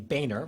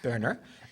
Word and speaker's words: Boehner: uh a man who likes to pronounce his name Boehner rather than Berner um Mr Mr burner